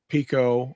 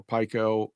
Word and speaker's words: pico: understand the difference between Pico or Pike Oh some people pronounce it either way and the difference between